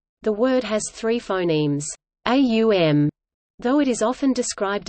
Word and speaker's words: Om: The Aitareya Brahmana of Rig Veda, in section 5.32, for example, suggests that the three phonetic components of Om, pronounced A-U-M, correspond to the three